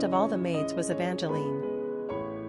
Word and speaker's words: Evangeline: Pronunciation, Evangeline.